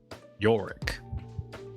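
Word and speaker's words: Yarrick: Yoro is a Yor. That's with a with a a y a r r i c k. Yoro. I don't know why it's pronounced that way if there's an a in it, but he runs a bar south of town.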